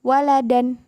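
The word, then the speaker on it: وَلَدًا: Hai nah dia itu nanti harokat fathah Tain ditambahin dengan Alif meskipun dia dibaca tidak panjang Kayak misalnya saja baca waladan Nah Enggak panjang kan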